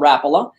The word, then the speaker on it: Rapala: rapila since since 2015 i call it rapala because it's a finnish company i'll bet you that's